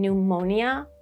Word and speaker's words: pneumonia: Situation number three, when we have the prefix of P N EU M, which means relating to air or breath. Mostly this is for some technical words such as in pneumonia or the British pronunciation pneumonia. pneumanic or the British pronunciation